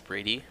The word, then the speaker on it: Bundy: And the pronunciation of that name is Brady.